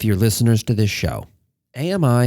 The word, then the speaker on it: AMI: listeners to this show, AMI has 3 syllables, and this year's shirt reinforces that. However, some of you who work at AWS insist that it's pronounced AMI. Let me just state right up front that you're wrong.